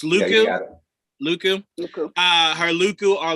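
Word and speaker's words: lekku: How's it pronounced, AJ? Luku? Her hair, essentially. Yeah. It's Luku.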